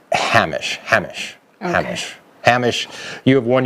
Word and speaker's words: Hamish: the patreon supporters mich what Jeff says it's pronounced Hamish Hamish okay Hamish see I always screw it